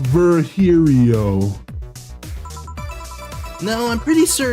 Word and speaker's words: Virgilio: we meet again bartender you look winded virgilio it's pronounced verhirio now I'm pretty sure it's virgilio you said